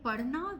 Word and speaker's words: padhna: But in padhna, we have a difficult pronunciation. Pa, rha. Rha. You know? Yeah. Rha. So it's kind of guttural.